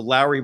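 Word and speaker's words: Lauri: just the other day his first name is is pronounced like Mike Lowry from the Bad Boys movies so Lowry Markin and we're all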